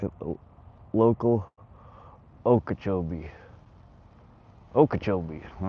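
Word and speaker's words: Okeechobee: Dirty 30 Dan taught you a Okachchobee. I say it like a local Okachobee.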